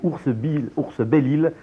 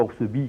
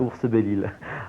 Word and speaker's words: Oursbelille: Exactement, je tiens à signaler que c'est Ours-Belle-Île, et non pas Oursebille, comme je l'ai dit dans la foule du reportage.